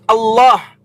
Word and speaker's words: Allah: Bacaannya Allah dibaca tafkhim. Lamnya dibaca tebal karena di fathah.